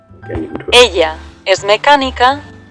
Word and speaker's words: ella: Ella es mecánica y trabaja en un taller. Taller. Ella, so the double L is spelled as yeah.